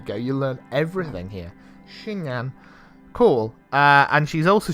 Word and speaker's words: chignon: i how do you say it how to pronounce i hope you can hear oh a shi shinyan here okay cool it is a popular type